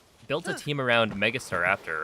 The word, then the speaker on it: Starraptor: He built a team around Mega Starraptor, right? Super hyped up new mega. And I don't know if he was trolling, but he would pronounce it as star after with like a a noticeable pause between the two.